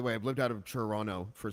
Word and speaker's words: Toronto: I've lived out of Toronto for 6 years, so now I pronounce the second T. Sorry about that. But when I go to Toronto and I go to